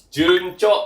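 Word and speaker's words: 順調: Betul, cara baca gitu adalah juncho ya, artinya itu lancar.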